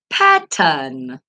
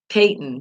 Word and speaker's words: Patton: that one I'm not really sure and I pronounced it wrong Patton okay I guess I was thinking of Peyton he came to my brain with that I